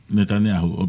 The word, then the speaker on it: Netanyahu: ¿Cómo es que se pronuncia? Porque yo decía Netanyahu, pero ustedes lo dicen de otra forma más correcta. Benjamín Netanyahu.